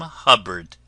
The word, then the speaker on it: Hubbard: friends this is wonderful Dame Hubbard named that always rhymes with cupboard ever going out to buy something for her dog so sly who would offer patients try this is wonderful Dame Hubbard one of fair raise